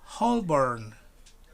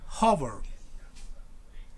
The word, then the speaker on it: Holborn: because should you say holborn holborn right holborn but it's not like that it's not holborn it's hover hover now repeat after me harbor that's right exactly hover you don't pronounce yelp right shall we continue